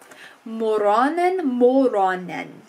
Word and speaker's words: moronen: Moronen is difficult. I see OR and I want to go more, but it's moron. So moronen.